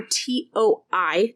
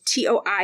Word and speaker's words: Toi: It's spelled T-O-U or T-O-I, depending on, it's a variant. T-O-I is a variant of T-O-U. So Toi, I'm going to go with Toi because I'm pretty sure that's how you say it.